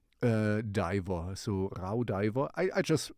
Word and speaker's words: Raudiver: to say it uh in German I would say ra because this is kind of au becomes an ow uh diver so R diver I I just pronounce